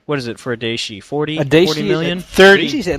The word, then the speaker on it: Daishi: It is pronounced Daishi. Just Daishi.